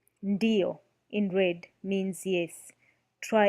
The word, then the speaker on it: ndiyo: Pronouncing ND as in ND in end with more of a stress on the tongue. The tip of the tongue touches the roof of the mouth while pronouncing N. When detaching the tongue from the roof of the mouth, pronounced D.